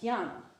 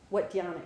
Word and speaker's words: dhyana: Anyway, the last of them, meditation, the Sanskrit word for that is dhyana, right? And dhyana, mispronounced in Chinese, which I will mispronounce in English, is Chan. Mispronounced Chan in Japanese is Zen.